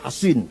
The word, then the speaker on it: Hasin: Bisod ya, Hasin. Kalau Sin Husain bacanya. Kalau Sod Hasin bacanya.